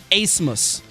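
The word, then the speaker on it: Abmas: the young man max asmus i butchered the name earlier he's the steph curry of the summit league pronounced a-c-e-m-u-s-s but spelled a-b-m-a-s what a game he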